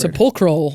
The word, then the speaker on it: Sepulchral: Sepulchral.